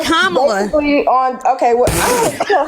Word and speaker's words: Kamala: But what Kamala and the honey, it's Kamala. Okay, well, I don't care how her name pronounced.